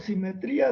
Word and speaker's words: simetría: Esto es por simetría de la métrica. Entonces, no importa, bueno, iba a escribir simétrico. Simetría. Es que simetría lleva acento en la I y simétrico en la E.